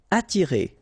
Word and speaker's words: attirer: Attirer. Okay, don't pronounce the double T. You only pronounce this.